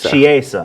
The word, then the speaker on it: Chiesa: And that's Diego Sanchez, the king of punches, going up against Michael Chiesa. Is that how you say his name? Chiesa.